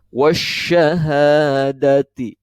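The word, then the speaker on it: والشهادة: Nah, alif lamnya tidak terbaca kan? Ini tidak terbaca alif lamnya. Lamnya tidak terdengar. Tapi langsung diidghamkan ke dalam huruf yang selanjutnya, yaitu huruf-huruf syamsiyah. Sya ini merupakan huruf syamsiyah. Jadi dibacanya wasyahadati.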